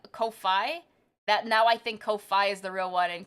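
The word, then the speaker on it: Ko-fi: say no wait it's Kofi it is Kofi I was saying it right for once it's supposed to be like coffee but Kofi I you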